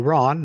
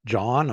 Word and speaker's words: Ron: sure they know that my name's actually Ron not John or Dawn or some other name it's usually something that rhymes with Ron but sometimes it's something